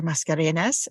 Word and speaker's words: Mascareñaz: so welcome to education perspectives Dr Dr mascarenes and I should ask you is that the correct pronunciation yes it is pretty that's really dang